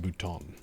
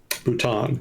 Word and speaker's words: Bhutan: Chat saying it's pronounced Bhutan. Bhutan.